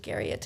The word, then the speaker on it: Garriot: I appreciate the French pronunciation, but it's just Garriot is fine.